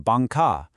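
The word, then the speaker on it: 艋舺: They noticed that the Taiwanese pronunciation Bangka sounded an awful lot like the Japanese word Manka, which means 10,000 years of prosperity.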